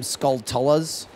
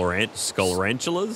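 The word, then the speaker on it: Skulltula: So I've always pronounced them skullas, but apparently it's the same spelling as tarantula, but they just changed skull and like from tarant to skull.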